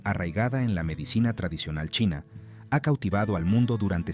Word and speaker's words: Qi: de la medicina tradicional China o mtc considera al cuerpo como una intrincada red de vías interconectadas conocidas como meridianos estos meridianos sirven como conductos para una energía vital llamada I pronunciado chi según la mtc el